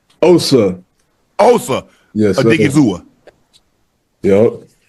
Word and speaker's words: Osa: Did I pronounce that right? Osa. Osa.